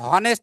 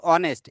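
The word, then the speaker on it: honest: mister Kamran ইজঅান অনেস্ট ম্যান এখানে অনেস্টের আমরা হনেস্ট উচ্চারণ করি না বলছি না যে হনেস্ট আমরা বলছি অনেস্ট এই ভাওয়েল থেকে ও থেকে উচ্চারণটা হচ্ছে এই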